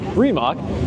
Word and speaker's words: Rimac: And this Rimac, I say it like Richard Hammond sometimes, Rimac is very nice.